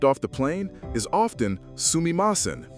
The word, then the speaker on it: sumimasen: Pronounced sumimasen, with a soft u that's almost silent, it sounds versatile, polite, even charming.